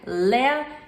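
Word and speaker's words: לאה: e significa ovelha e leia também se chama às vezes Lia em português se pronuncia Lea e não vem do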